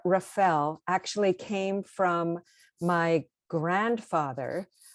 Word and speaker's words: Rafel: So it's Rafel.